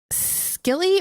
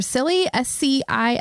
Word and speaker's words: Scilly: The island it was found on is called the Isle of Scilly or Silly, Scilly.